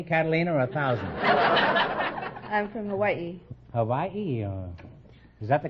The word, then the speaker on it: Hawaii: We invited some Hawaiian dancing girls to the program tonight.